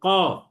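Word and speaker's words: قاف: আমরা টেনে পড়ব, এবং এই হরফটিও পোর বা মোটা তথা মুখ গোল করে উচ্চারণ করতে হবে।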